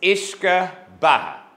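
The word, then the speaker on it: uisce: they want to be really really Brave I mispronounce these words up here it's ishka and it means water of life and it's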